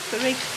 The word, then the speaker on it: Thrigby: Can you pronounce where we are? Thrigby.